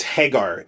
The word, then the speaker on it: Haggar: have thought that um Haggar is a hag our hacker its Hagar it's a say her name is the same as the playable character from final flight hangar you would have thought